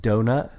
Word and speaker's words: Donat: played Richard an was a guy named Robert donat uh 30 years old pronounced donut yeah I actually looked it up to make